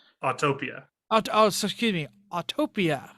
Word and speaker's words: Autopia: We're going to talk about Autotopia. We're going to talk about Radwood. We're going to talk One about T. Autopia. excuse me, Autopia.